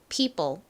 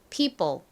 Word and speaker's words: people: 이죠 p 부분은 p 그리고 이중모음이가 나오는데요 여기서이는 e 소리로 쓰였다라고 말씀드렸죠 이오는 보통 다른 소리로 더 많이 쓰이지만이 단어에서는 예외적으로이 소리로 쓰였습니다 자 그리고 봄 p 다음 따라해 보세요 사람들 people people 좋습니다 자 이제 같이